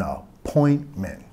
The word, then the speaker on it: appointment: Enfatizando la segunda sílaba. Do you have an appointment?